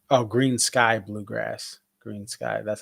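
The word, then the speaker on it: Greensky Bluegrass: Oh, Green Sky Bluegrass, Green Sky. That's how you pronounce it.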